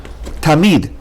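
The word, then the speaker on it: תָּמִיד: Now, the examples are the word tamid. You can separate into ta and mid.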